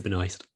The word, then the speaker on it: Benoist: Melissa Benoist.